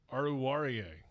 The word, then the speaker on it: Oruwariye: I'm going to let you pronounce the last name. Oruwariye.